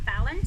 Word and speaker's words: Falynn: My name is Falynn. For those of you who are wondering, it's pronounced like Jimmy Fallon, but minus the Jimmy, just Fallon.